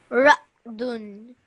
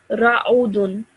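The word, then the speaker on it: رعد: Ra'dun. Perfect. Excellent. Okay. So previously you said ra'udun. Okay, which is wrong because you thought this was a dhamma.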